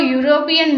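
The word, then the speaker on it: European: next है अ यूरोपियन मैन, यहाँ पर भी हमने देखा कि वोवल से स्टार्ट है ई से, बट अगर हम इसको हिंदी में कॉन्सोनेंट साउंड को देखते हैं तो ये निकलता है य, तो हमें य साउंड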